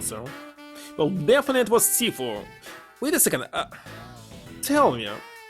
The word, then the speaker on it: Sifu: So he's Sifu, not Shifu.